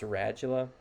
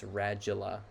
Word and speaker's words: radula: Um we'll look at what that looks like, but it's pronounced radula. And the phenology of that is similar to like educate, how it has that J sound. It's radula with that J sound.